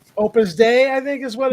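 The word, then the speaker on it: Opus Dei: And Opus Day. Opus Day, I think, is what it's called. Opus Day. Oh, okay. They were prus, but it's pronounced like day.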